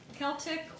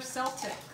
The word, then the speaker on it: Celtic: out there tell us how to pronounce Celtic or Celtic so now both are acceptable what you're seeing me